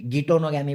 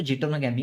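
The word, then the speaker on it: geitonogamy: चलो अब बात करते हैं जीटोनोगैमी, गिटोनोगैमी बोलो, जीटोनोगैमी बोलो, करेक्ट प्रोनाउंसिएशन तो जीटोनोगैमी है।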